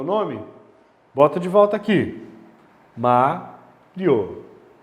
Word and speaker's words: Mário: Mario. Acentua porque a paroxítona terminada em ditongo. Separa o i e o o. Mario. O que aconteceu? Quem é a sílaba tônica? A antepenúltima. Todas as antepenúltimas são acentuadas.